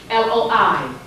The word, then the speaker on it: loi: But white folks write it L-O-E, L-O-I. Their Loi is written L-O-I, our Loi is written L-O-A. Both are pronounced the same way.